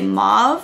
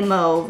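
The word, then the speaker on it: mauve: you guys pronounce it do you say mob or moe I say moe I know some people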